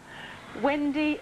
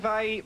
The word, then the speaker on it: Yngwie: Wendy Malmsteen. Oh, Amanda, you stupid woman. Try again. Malmsteen? Yngwie Malmsteen. Yngwie Malmsteen, sorry.